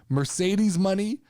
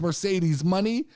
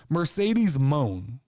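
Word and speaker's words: Mercedes Moné: what they were, because it's Mercedes MONE apostrophe, which I'm assuming is Mercedes Money, but it looks a lot at first glance like I was pronouncing this all morning, Mercedes Moan.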